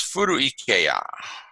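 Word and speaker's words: 古池や: It's actually to be an adjective, furu-i, but the e is swallowed up by the e of ike. So it's furu-ikeya.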